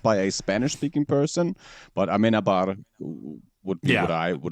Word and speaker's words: Amenábar: I don't think that I've ever heard it spoken out loud by a Spanish-speaking person, but Amenábar would be what I would have pronounced it.